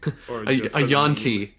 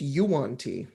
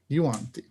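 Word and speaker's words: yuan-ti: A yonti. I I would say that you would Oh god. Yeah. Matthew Matthew Mercer on DD Beyond just corrected me. It's Yuanti. Yuanti.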